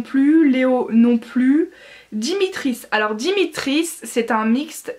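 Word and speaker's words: Dmitri: du personnage qui s'appelle dimitri alors en fait ça se prononce dimitri mais ça s'écrit dm item y le prénom ne s'écrit pas pareil que la prononciation et moi j'ai voulu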